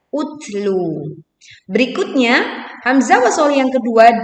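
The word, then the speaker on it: اُتْلُ: Kenapa pada kalimat ini kita membacanya dengan hamzah wasol berbunyi o? Karena di sini hamzah wasol tidak satu paket dengan lam, kemudian huruf ketiganya adalah dhammah, maka dibaca utlu.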